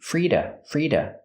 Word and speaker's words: free to: Remember, the to is pronounced da with a fast D. Frida.